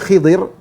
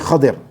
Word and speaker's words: Khadir: Ada yang baca Khidir, tapi banyak yang bacanya Khadir. Al-Khadir, Nabi Khadir. Ada yang namanya Khidir, boleh-boleh saja, tapi yang lebih sering disebut adalah Khadir, ya.